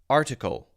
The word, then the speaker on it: article: strong I sound there it's almost a schwa sound I pronounced it with the light D sound plenty of people do it with the T sound I will leave that